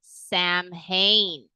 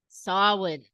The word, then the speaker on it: Samhain: I'm pretty sure it's Spanish in Mexico to Samhain in Ireland. Now, how many of you remember that it's not Samhain? Does anybody remember that? Anyone? Ah, because that is how I grew up pronouncing it.